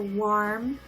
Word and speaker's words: warm: So warm. And if they say worm, it's more of an O shape. So worm, worm, warm, warm. So I hope that was helpful with the pronunciation.